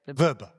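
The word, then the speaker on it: Vrba: Verbber Verbber.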